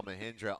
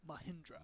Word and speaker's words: Mahindra: oh you well we've seen several central arkansas mahindra onside kicks and what they can do for